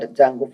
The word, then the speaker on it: Django: And now we are going to be entering is an advanced Python Django framework. D is silent in this word called Django framework.